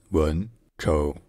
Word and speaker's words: Wenzhou: In Mandarin Chinese, the name of the city is pronounced Wenzhou. Wenzhou.